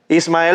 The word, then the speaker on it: Ismael: what he told me to say just kidding Ismael s that's my name yeah right I just